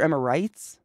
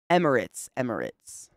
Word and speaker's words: Emirates: Is it Emirates or Emirites? Emirates. Emirates?